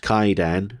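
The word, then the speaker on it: Kwaidan: The colorful Japanese horror anthology Quaidan pronounced Kaidan. Oh, the W is silent by Masaki Kobayashi of the human condition trilogy.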